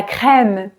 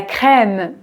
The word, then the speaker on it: crème: et ok c'est parti la crème la crème oui ici c'est e accent grave e e c'est un e